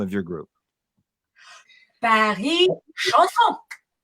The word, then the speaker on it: Paris Chansons: Paris Chansons. Paris Chansons.